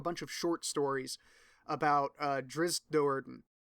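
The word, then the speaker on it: Drizzt: of short stories about drizz Do'Urden I usually just say drizzle and even though I know that's not how you pronounce it because it's easier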